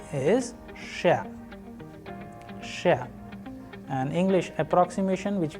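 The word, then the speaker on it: Ш: The letter is Sh, Sh. An English approximation which we have used here is push, push.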